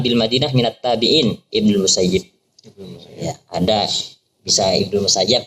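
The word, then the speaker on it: المسيب: Bacanya Musayyib tak Musayyab bahwa Abu Muhammad Sa'id bin Musayyab atau Musayyib. Wal Musayyab bi fathil ya al musannah min tahtiha musyaddadah. Jadi ada yang mengatakan Musayyab wa ruwiya anhu wa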